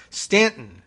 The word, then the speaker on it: Staunton: issue on the show I asked I happen to know Stanton they don't use that you have spelled Staunton sta you and AM they I don't know